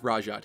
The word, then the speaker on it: Rhajat: waters a bit, as her name is indeed pronounced with a hard J, and she has actually had her name officially spoken.